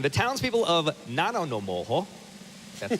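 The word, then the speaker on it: Nanaimo: Number 9, the townspeople of Nanonomoho, that's how you pronounce it, BC race their bathtubs as part of an annual aquatic tradition.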